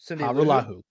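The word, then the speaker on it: Hajrullahu: Ha. Ru. La. Who. Put them all together. Harulahu.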